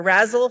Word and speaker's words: RASSLE: and lunar exploration, or RASSLE for short. It rhymes with dazzle, and you can use jazz hands when you say it.